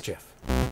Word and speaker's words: GIF: that's why Jeff should be pronounce Jeff Jeff not gift you know it's GIF